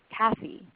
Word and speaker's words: Kathy: So if her name were Ginger, you might say Kathy or Bella with the stress on the first syllable.